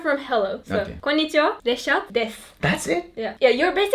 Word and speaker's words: Reşat: konnichiwa, Reshat desu. That's it? Yeah. Yeah, you're basically saying I'm Reshat. You're not Okay. saying my name is Reshat, but you're saying I'm Reshat.